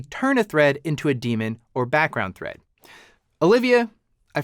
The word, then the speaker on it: daemon: them what's called a demon thread a demon thread which you may also hear pronounced as daemon is a thread that